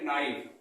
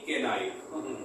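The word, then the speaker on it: knife: उसके बाद में हमारा आता है नाइफ, इसको पढ़ते हैं नाइफ, ना कि केनाइफ। केनाइफ गलत प्रोनाउंसिएशन होता है, इसका राइट प्रोनाउंसिएशन नाइफ होता है।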